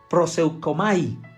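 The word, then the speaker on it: προσευχή: testamento esta está en griego y se la pronuncia prosecco may y que también tiene dos significados es adoración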